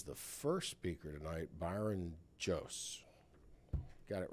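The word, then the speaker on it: Joos: And then I would like then to advise the first speaker tonight, Byron Jose. Got it right, didn't I, Byron? I got it right, didn't I, Byron? I said Jose. It's spelled J-O-O-S.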